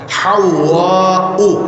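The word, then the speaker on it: حواء: বাজে তো ইহানে আমরা হাওয়া বলি, শব্দটা আরবিতে উচ্চারণ হলো জিমের পাশে যে হা, ওয়াওয়ের উপরে তাসদীদ, এরপরে একটা আলিফ, তারপরে একটা হামজা। হাওয়া উ, এটি গয়রি মুনসারিফ, তানবিন হবে না।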